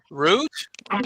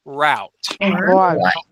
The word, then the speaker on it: route: Root. Root or route. Yes. So, so we can use that ooh sound root or route.